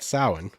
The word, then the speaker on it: Samhain: it was actually back then it was called samhain and it still is actually to this day